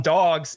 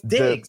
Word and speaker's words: Diggs: Even though I know it's Diggs. There's no dogs in there.